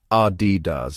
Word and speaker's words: Adidas: The correct pronunciation is Adidas. It's simple once you know the trick. That's R like the beginning of apple, followed by D like the letter D, and then Das rhyming with jazz.